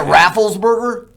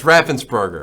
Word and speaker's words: Raffensperger: Isn't it Rafflesburger? That's Raffensperger. Raffensperger.